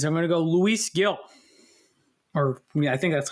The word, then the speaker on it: Gil: I'm going to go Luis Gil. I think that's how I'm 99% sure that's how you pronounce it. Didn't they say it was Gil, which sounds like an eel with a G in the front?